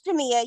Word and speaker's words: Jamia: it's Jamia. You said it right the first time.